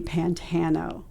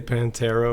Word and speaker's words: Pantano: Most people say Pantero or Pantanero, and there's no R's in my name, so you did great.